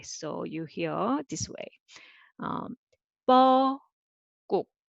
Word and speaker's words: 뻐꾹: 뻐꾹. 자, 뻐꾹. 뻐꾹. This is a sound, and so syllable by syllable.